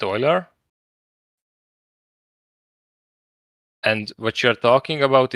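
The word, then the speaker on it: Euler: talking about is Oiler I think you pronounce it Oiler and what you're talking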